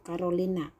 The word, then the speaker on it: Carolina: Untuk bagian D, Carolina, jadi tulisnya pakai C ya. Nah, bacanya itu Carolina.